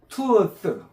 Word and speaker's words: truth: 아, 그 다음에 요거는 truth. truth. 요거 이 th 발음 잘해야 돼요. 뜨가 아니고 이것도 윗니로 아랫니로 살짝 물고 tooth 해보세요. truth. tooth. 혀를 살짝 물어요.